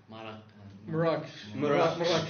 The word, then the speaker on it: Marrakesh: And it's always interesting to me, too, the way towns or cities and stuff like that are pronounced. Like Marrakesh is what? Marrakesh.